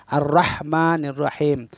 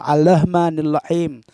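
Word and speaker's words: الرحمن الرحيم: jelas galir rohnya benar-benar berderik getar lidah kita arrahmanirrahim ada sebagian Imam menirunya diganti dengan lam naudzubillah al-rahman al-rahim kalau kita mesti sering menyimak imam-imam kita yang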